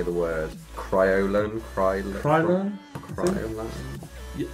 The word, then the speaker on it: Kryolan: I'm going in with my, I can never say the word, Kryolan? Yeah, I've always heard it as Kryolan. I always say it like Crayola, but yeah. As in cry. Pretty much. Cryo.